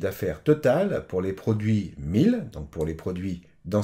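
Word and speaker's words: Miele: Par exemple, Delon a essayé d'acheter un four de marque 1000, bon je le prononce à l'allemande, 1000, et son dossier a été refusé.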